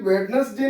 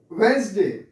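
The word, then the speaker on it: Wednesday: बोलेंगे बताइए, today is, इसको हम लोग बोलते हैं वेडनेसडे। कभी भी वेडनेसडे नहीं बोलेंगे, that is incorrect, that is incorrect pronunciation of वेडनेसडे, इट इज वेडनेसडे।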